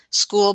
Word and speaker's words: SQOOL: School, by the way, is spelled SQOOL, and it stands for Supporting Quality Online Opportunities for Learning.